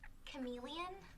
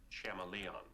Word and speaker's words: chameleon: Professor, do you mean chameleon? Betty, I'm pretty sure it's pronounced chameleon. Class dismissed. No homework for a while. Okay, I learned that word by reading it. That's how I've always pronounced it.